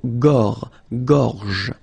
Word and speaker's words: gorge: Okay, remember when you get this combination G and O, you get the sound go, go. Okay, so gorge, and then G and E gives J. La gorge.